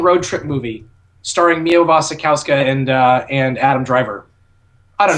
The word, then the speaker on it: Mia Wasikowska: Wasikowski. I think it's Wasikowska, but it's also Polish, and I think we're just pronouncing it wrong because we pronounce Wasikowska. It's probably like Wasikowska or something.